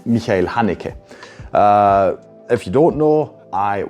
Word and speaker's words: Haneke: No, if you're interested in the actual, at least Austrian pronunciation of these names, I will now do you that pleasure. So yes, the director, the writer and director's name is Michael Haneke.